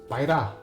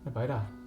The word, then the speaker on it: Baira: But it's pronounced differently in in Mongolian it's pronounced Baira, which is kind of weird because it's not written that way. But it's also beautiful. Baira.